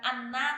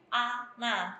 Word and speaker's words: Ananya: Ananya itu bukan anna tapi ana. Jadi dibacanya lebih harus kayak ana gitu. Enggak boleh anna gitu.